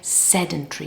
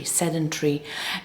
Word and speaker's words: sedentary: You have to kind of squeeze it, make it shorter. Sedentry. Sedentry.